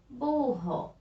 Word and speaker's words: burro: cachorro a palavrinha agora burro olha só burro pronúncia forte e no meio de duas vogais então utilizamos o rr